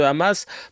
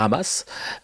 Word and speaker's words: Hamas: dans le sens où Hamas, c'est la prononciation en hébreu. Parce que les H, on les prononce avec ce r, voilà, en hébreu.